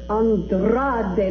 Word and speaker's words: Andrade: for Channing Santana really Santana Andrade and Andrade that's right you must roll your RS when you say it all the time now